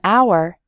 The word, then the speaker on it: hour: We say a hat because hat starts with an h sound, but in the word hour, the h is silent, so we say an hour.